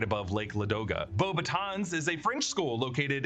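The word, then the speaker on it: Beauxbatons: And we should note that Michael Gamin as Dumbledore in this movie does mispronounce Bobatons. He says Bobatton. It's actually Bobbitans.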